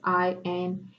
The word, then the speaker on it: Sinek: Maybe I'm pronouncing his last name incorrectly. It's Sinek, Simon Sinek.